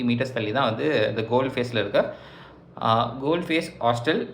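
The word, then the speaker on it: Galle Face: இதை வந்து ஆனால் வந்து ஸ்ரீலங்கன்ஸ் எப்படி ப்ரொனவுன்ஸ் பண்ணுறாங்க அப்படின்னா தமிழ் பீப்புள் அண்ட் சிங்கிலீஸ் 2 பீப்புளுமே எப்படி ப்ரொனவுன்ஸ் பண்ணுறாங்க அப்படின்னா கோல் ஃபேஸ், கல்லி ஃபேஸ் இல்லை கோல் ஃபேஸ் அப்படின்றாங்க அந்த ஏரியா பேர்.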